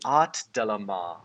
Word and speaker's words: Art Delamar: They were a wonderful commission by Art Delamar on Fiverr. It's spelled exactly how it sounds, ART, Delamar.